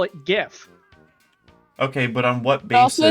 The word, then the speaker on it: GIF: of people call it GIF.